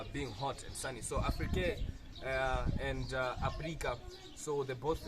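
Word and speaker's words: Aphrike: Now the Greek called Africa Afrique. Afrique. That is spelled A-P-H-R-I-K-E.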